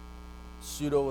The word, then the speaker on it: pseudo: So when you say it, right, you have the p, p, right? You have the unvoiced labial, p, p, and the s, alveolar, ps, ps, pseudo.